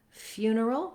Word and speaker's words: funeral: Then lastly, in the word funeral, we're back to first syllable stress, and I would write it like few, na, or neural.